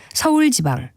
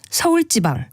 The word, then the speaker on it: 서울지방: 각 지방의 날씨를 말하면서 서울지방, 충청지방 등과 같이 발음할 때가 있는데 이것은 모두 올바른 발음이 아닙니다. 이 경우엔 서울지방, 충청지방과 같이 된소리로 발음하는 것이 맞습니다.